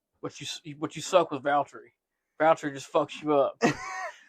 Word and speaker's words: Valtteri: need to be like Valtteri. Yeah, it's because I know even though I'm hearing Valerie, I know there's a little silent T in there where you're going Valtteri, but it's not what anybody hears, and it's not how.